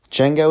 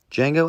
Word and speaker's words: Django: D is silent here, baby.